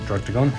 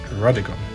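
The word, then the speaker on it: Druddigon: Definitely not Drugdigon, it's Drudigon.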